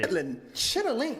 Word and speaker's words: chitterlings: I believe chitlins are pig intestines that you put, like, you make really spicy to make it, taste spicy. Chitterling.